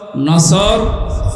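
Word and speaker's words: نصر: এই জন্য তেলাওয়াত যখন করবেন সোয়াদ উচ্চারণটা মুখ গোল করা লাগে।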